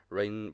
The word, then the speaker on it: Reyne: From Sydney, Australia, is rising hip-hop artist / wrestling fan, Reyne, a.k.a. How you doing? What up, man? How you doing? That's crazy. Actually, you pronounced my actual real name, Reyne, correct.